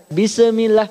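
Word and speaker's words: بسم الله: bis ya bis ya jangan sampai bismillah karena shinbukan huruf Qalqalah kalau Bapak baca ada pantulan E ini artinya hukumnya nih hukum Qalqalah padahal Kalau turunnya 55 yang disingkat bajuditoko ya tingkatannya bajuditoko jadi shinbukan Qalqalah jadi sini jangan ada bacaan bismillah Walaupun kecil bak usahakan bismillah bismillah jangan bisa Mila coba bismillah nah silakan dilatih hebat kemudian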